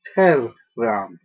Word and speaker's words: terram: There are no silent letters in Latin. So this is not terram, it's terram. That double R both have individual pronunciations.